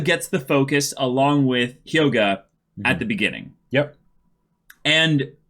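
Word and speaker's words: Hyoga: got his name wrong it's not kyoka it's it's yoga yeah I messed that up so let me change my notes there Yoga is his name he is one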